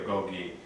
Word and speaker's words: goji: It's either pronounced goji or goi.